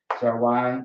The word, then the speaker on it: Zarwai: Zarwai is how you say it. So you have the Z and the R connected together, right? Z, and then you have the R, right? Connected.